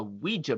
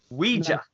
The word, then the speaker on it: Ouija: obsessed with a ghost she contacted using a Ouija board, Jim reluctantly joins forces with her ex, his own estranged childhood best friend, to identify and exorcise the evil spirit. Ouija.